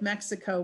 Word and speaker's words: Mexico: to the city of mexico were the meshica so early on it's meshiko and then of course later as the pronunciation changes it changes to mexico okay so then they